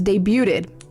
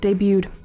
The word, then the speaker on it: debuted: The the T is silent, man.